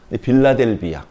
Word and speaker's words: 빌라델비아: 성경은요, 발음을 세게 하면 안 되나 봐요. 원래는 필라델피아거든요. 빌라델비아, 부드럽게.